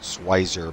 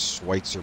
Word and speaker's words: Schwitzer: the swizer or swizer I was pronouncing it siser Motorsport but it is schwitzer Motorsport uh for those guys